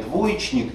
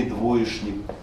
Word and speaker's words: двоечник: что вам больше нравится как произношение: двоечник или двоешник. Видите, и у нас в этом слове мы уверенно говорим, хотя словарь разрешает и то, и другое, мы уверенно говорим, что ш здесь лучше.